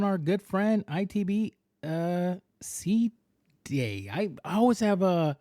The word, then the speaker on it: SeaDea: on uh but it's but it's pronounced okay